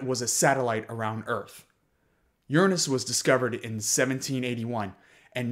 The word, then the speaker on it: Uranus: the ice giants of uranus and neptune and yes that is how you pronounce that planet in the early 1990s